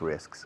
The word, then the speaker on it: risks: I like to take risks sometimes. I like to take calculated risks. Risks. Risks. La S al final, S antes y S al final, después de la K.